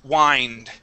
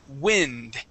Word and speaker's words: wind: this word before, and that sometimes can be pronounced wind, right? But in this word, this is a piece of glass that blocks the wind.